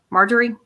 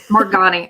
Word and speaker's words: Margani: Can tell me a little bit about how you've created, say her name again, Marjorie? Margani. I keep looking at it going, it's Marjorie.